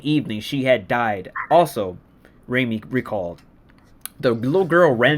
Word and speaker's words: Raimi: Okay, so how you pronounce his name? Raimi or Raimi? I can't remember. Like Raimi. Raimi.